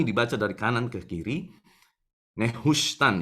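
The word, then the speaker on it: Nehushtan: Nehustan, ya bukan kita bacanya Natsuhen, bukan, saudara ya. Nehustannya tetap kita baca, tapi ini dibacanya dari huruf paling kanan ke yang paling kiri.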